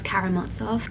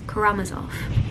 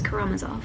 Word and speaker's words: Karamazov: get this up I've always heard this as karamatzov I've heard it said aloud I watched the